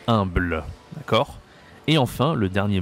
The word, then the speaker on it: humble: En anglais c'est humble, en français c'est humble, d'accord?